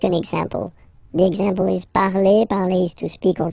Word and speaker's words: parle: remember, and after that you just put the ending e, and then the way to pronounce it is je parle, parle. So remember, we put it, okay, but then we don't really pronounce it, je parle, okay.